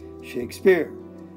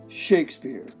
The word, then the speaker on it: Shakespeare: we have two syllables which one is stressed if it's an I am it would be the second one Shakespeare but now we don't say it that way we say Shakespeare so that's actually what you call a trochee it's a different foot but the stress is right here on the first syllable so Shakespeare doesn't work